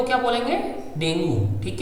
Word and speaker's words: dengue: क्या है, DENGUE, तो इसको ऐसे पढ़ते हैं डेंगू, लेकिन इसका सही प्रोनाउंसिएशन क्या है बेटा, डेंगी, इसको सही से पढ़ते हैं तो इसको डेंगी बोलते हैं। मैंने पिछली बार आपके सामने डेंगी नहीं बोला क्योंकि आप लोग फिर समझ नहीं पाते, तो आप लोगों को समझने के लिए इसे अभी डेंगू बोला था, बट इसको प्रोनाउंस क्या करते हैं हम, डेंगी, इसको डेंगी बोलते हैं, डेंगू नहीं बोलते, ठीक है।